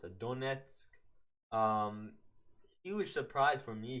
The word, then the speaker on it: Donetsk: How do you pronounce it? Donetsk.